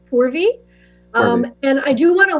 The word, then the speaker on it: Purvi: And I'll just reiterate that my name is pronounced Purvi.